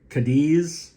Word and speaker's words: Cadiz: So they bought an old sawmill in Cadiz, I think it's pronounced, C-A-D-I-Z, New York.